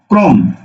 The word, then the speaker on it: ক্রম: এই ক্রম শব্দটার দিকে তাকাও, কয়ের রফলা আছে, তাহলে উচ্চারণটা কি হবে? উচ্চারণ হবে, কয়ে যেহেতু যেহেতু রফলা আছে এবং এর সাথে যেহেতু কোনো কার নেই, সুতরাং লিখতে হবে কয় রফলা ওকার মক্রম। বোঝা গেল?